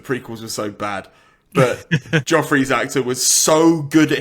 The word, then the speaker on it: Joffrey: And then there's a guy called Jeffrey, but they pronounce it Joffrey.